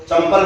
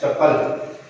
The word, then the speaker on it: चप्पल: कई बार विद्यार्थी अपने सही उच्चारण नहीं करते हैं तो चंपल बोल लेते हैं। चंपल तो हमारा पदवेश हो जाता है, जबकि यहाँ पर उल्लेख है चप्पल।